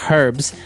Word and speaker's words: herbs: Okay, so we can accept basically if somebody says herbs, but I guess in American English it's more commonly pronounced as a silent H.